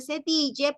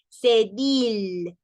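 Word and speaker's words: cédille: cedil no es Dj no se dice cepille porque la e tampoco va a tildada Entonces es cedil cedil y es la C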